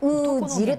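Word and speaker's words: 男弦: 男の弦と書いてうーじると言います。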